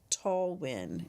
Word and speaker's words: Talwin: Oh, it's pronounced Talwin.